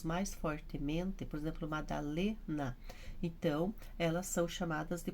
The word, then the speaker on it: Madalena: Então, por exemplo, o meu, Madalena, o Lê que é forte.